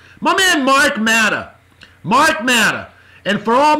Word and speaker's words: Matta: And yes, his last name does not end in an R. It's actually M-A-T-T-A.